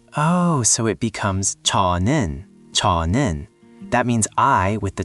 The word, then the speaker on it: 저: The word is 저, spelled 저 and ra, pronounced 저.